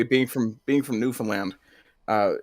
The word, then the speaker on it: Newfoundland: involvement versus Newfoundland involvement tried to get all the uh the syllables in there you don't actually have to worry too much about getting all the syllables because the way that we speak we kind of tend to run it together so it's actually Newfoundland and that's fine hey I I I